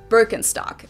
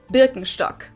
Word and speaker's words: Birkenstock: So English speakers usually say Birkenstock. In German, we say Birkenstock.